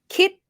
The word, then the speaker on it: คิด: Yeah, kít, high tone. Kít comes from doesn't come from anything.